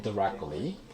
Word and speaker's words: directly: 우리 틀리 아니었고 T 발음 빼기로 했었죠? 그래서 다시 한번 directly. 여러분이 그렇게 발음하셨다는 게 아니고 다시 한번 directly, indirectly, exactly, exactly가 아니었었죠 저희가. T 발음 다 빼기로 했잖아요.